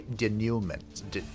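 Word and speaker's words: dénouement: Oh, by the way, someone told me this is pronounced bloody denouement. Denouement? It's a French word, so.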